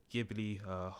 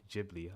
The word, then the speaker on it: Ghibli: And this is in the Ghibli or Ghibli. I'm going to say Ghibli. I am not too familiar with the actual pronunciation, but it's a studio Ghibli.